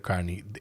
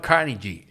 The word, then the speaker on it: Carnegie: podcast, que no conozca el nombre de Dale Carnegie.